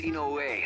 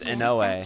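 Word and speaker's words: Inoue: late my name is Ino way I'm reset kujikawa's manager that's not how you pronounce that it's in no way uh I was hoping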